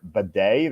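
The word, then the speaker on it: Badie: After that, some guy named Tyler Bidet, that's his pronunciation for some reason.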